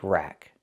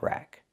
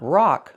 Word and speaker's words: rack: This is called a bike rack. Again, not a bike park, but a bike rack. Pronunciation. Rack. Use the short a sound like black cat. Not rock like rock and roll, but rack like black cat.